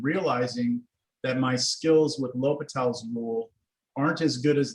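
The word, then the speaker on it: L'Hôpital: L'Hopital. At first, when I first saw it, that said hospital, but The hospitals, right? La Hospital. It's spelled La Hospitals, but it's L'Hopital.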